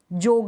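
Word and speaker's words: jog: जॉग, जोग नहीं, जॉग।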